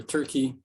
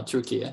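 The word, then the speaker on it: Türkiye: I pronounce the name Turkey, as some of you might know. The country officially applied to the United Nations to change its spelling. It's no longer Turkey, but it's now Turkey. So I pronounce it that way.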